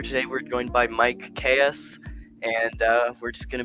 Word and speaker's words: Kaess: Yeah, I'm Mike, and it's pronounced Kaess, by the way. Kaess, Everyone says that. Yeah, it's all good. I get that all the time. That's not even the worst time, like the worst way someone has mispronounced my last name. So that's about par, of course. But yeah, it's just a normal kind of.